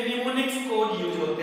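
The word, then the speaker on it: mnemonic: देखिए मैं लिख दे रहा हूं निमोनिक कोड, क्योंकि इसमें एम साइलेंट होता है, एम एन ई एम ओ एन IC निमोनिक्स बोलते हैं इसको, निमोनिक्स।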